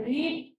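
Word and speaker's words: read: नहीं रती है पर फर्स्ट फॉर्म में रीड पढ़ते हैं और सेकंड फॉर्म में उसको रेड पढ़ते तीनों में ऐसे ही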